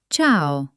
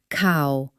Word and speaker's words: ciao: It sounds like ch in cheese. Listen. Ce. Ci. The most famous example? Ciao. See? It's not cow. It's ciao.